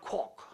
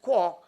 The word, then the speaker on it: quark: And the word quark, James Joyce said quark, but Murray Gell-Mann wanted to pronounce it quark.